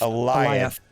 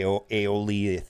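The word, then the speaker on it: Alioth: Eliot. All right. I was going to say Aeolith or something, but Eliot.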